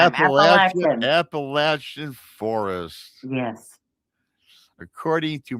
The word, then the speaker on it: Appalachian: Surrounded by the dense Appalachian Is it Appalachian or Appalachia? How do you say that? You said it right the first time. Appalachian Appalachian forest.